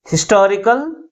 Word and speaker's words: historical: That is, third syllable from the last is pronounced with a greater force compared with other syllables.